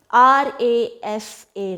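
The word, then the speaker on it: rasa: Ras, or maybe I'll just spell it. R-A-S-A, ras.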